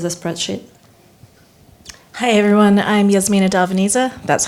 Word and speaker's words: Darveniza: Hi everyone, I'm Yasmina Darveniza, that's how you pronounce it.